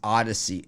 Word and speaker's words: Audacy: So the Audacy app is pronounced Odyssey.